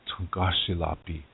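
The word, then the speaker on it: Tȟuŋkášilapi: In Lakota it's Pi. So when you're talking about a group of these spirit helpers, then it's Tungashilapi. That's how it's said in Lakota.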